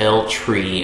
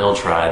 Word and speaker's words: El Tri: It is pronounced El Tri and not El Tri.